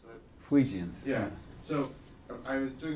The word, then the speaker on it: Fuegians: How do you pronounce that? Fuegians.